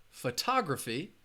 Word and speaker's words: photography: of a trick question so the word is pronounced photography which syllable has the schwa or like I